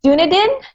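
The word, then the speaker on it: Dunedin: and ooh dunadan otago new zealand did i pronounce that correctly what what is it dunadine that's close enough the nathan oh donated okay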